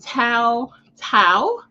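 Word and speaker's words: Tou Thao: this week and so I did confirm the pronunciation is J Alexander King and Tao Tao they were convicted on federal charges and so former Minneapolis police officers J Alexander King and toe Tao were sentenced by the U.S District Court Judge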